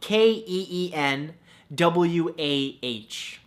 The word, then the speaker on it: quinoa: beautiful thing number two quinoa spelled ke en wuah no that's not how it's spelt at all but it should right